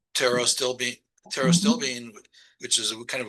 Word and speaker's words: pterostilbene: You know, the resveratrol has a more active, biologically active form, which is called pterostilbene. Pterostilbene, which is kind of a weird name, but it's spelled PTERO.